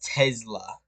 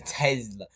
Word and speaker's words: Tesla: Why does he say it like that? Tesla. It's a Tesla.